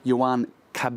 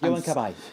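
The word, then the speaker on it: Cabaye: evening, Mark, there was Yan Cab, is that correctly pronounced? Yan Kabay.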